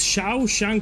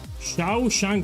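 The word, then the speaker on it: Shawshank: So now I know how to pronounce it's Shiao Shank Redemption. Thank you. So if you wrote it like that, it's easy for me to see. So Shiao Shank Redemption.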